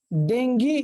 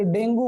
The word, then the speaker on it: डेंगी: Number 1 डेंगी, या फिर डेंगू बोलते कुछ लोग इसे, पर एक्चुअली इसका प्रोनाउंसिएशन है डेंगी।